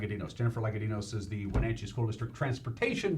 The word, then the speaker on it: Lagadinos: little while and to my immediate left Jennifer pronounced last name again sort of Lloyd legatine s Myka Dino's like a dinos Jennifer lenka Dino says the Wenatchee School District Transportation Director pretty still